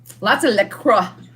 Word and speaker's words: LaCroix: water that's what i drink the most of lots of liquor is how you pronounce it the crotch the crocs so you